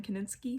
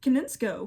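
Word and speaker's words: Konietzko: names to note are michael dimartino and brian kaninsky koninsko i've been saying his name wrong koninsko they've roomed with the track team the track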